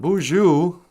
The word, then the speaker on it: Boozhoo: say boujou niji and boujou is spelled like this it's like a ghost sneezes bonjour is my name